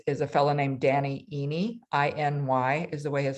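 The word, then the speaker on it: Iny: area of courses is a fellow named danny eeny i-n-y is the way his last name is spelled with the company miracy m-i-r-a-s-e-e and um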